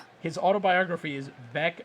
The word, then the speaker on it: Beck: His autobiography is Beck as in wreck.